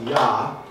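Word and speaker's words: יה: it we actually know how to pronounce it's pronounced yah and the reason we know how to pronounce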